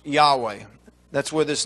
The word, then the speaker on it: Yahweh: agreement with this as Yahweh by adding the a and the e the vowel sounds. Uh you can't say yhw but they most believe that it's pronounced Yahweh.